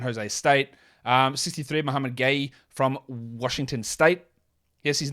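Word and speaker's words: Gueye: State um 63 Muhammad gay from Washington State yes his name is pronounced gay it's not guy it's gay but it's like gay with a French accent gay like that I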